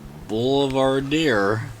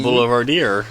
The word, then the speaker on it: Boulevardier: So it is the Boulevardier.